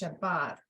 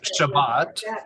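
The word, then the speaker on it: שבת: placed over the consonant so like we were pronouncing the word Shabbat it's Shabbat that's the stress because that follows the rule the last yeah so with Shabbat then it would be Shabbat uh-huh correct yeah Shabbat follows the the rule so that last but is a closed so ba bought is a closed syllable and so that's the the final one so Shabbat that bot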